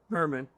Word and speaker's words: Hermon: Hermon. That's how you say it in Hebrew.